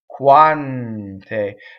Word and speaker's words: quante: quant a one day okay so the N touches the T and again n does whatever the next consonant does right so this is just a plain old n with the tip of the tongue but it leads right up to the T quante now single N